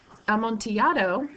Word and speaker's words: Amontillado: and notice that it's the Double L is pronounced like a y as it is with like tortilla chip that's because am monato is a Spanish word and am monato is a type of